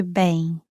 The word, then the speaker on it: Ben: Boa noite, bem. Boa noite, Good evening. boa noite. Next is Ben's name pronounced in Portuguese. Bem, bem, bem.